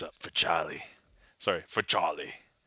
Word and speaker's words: Charlie: Sorry for Charlie. I have to pronounce it as though it's spelled C H O L L Y.